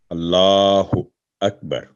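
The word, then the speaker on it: الله أكبر: तो यह अल्लाहु अकबर यानी वाव का टच ना हो, और अल्लाह लाम पर लाम जो डाला वर्टिकल फतह खड़ी ज़बर है, तो अल्लाहु अकबर। और काफ जो है वो थिन लेटर है, तो बड़ी का आवाज़ यहाँ पर कलकला ना हो जाए, अकबर ना हो, अकबर।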